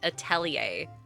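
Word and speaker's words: Atelier: I think I've come to the conclusion that it is pronounced atellier.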